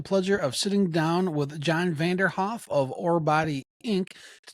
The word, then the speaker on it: John Vanderhoef: All right, we have John Vanderhoef. Did I pronounce that right?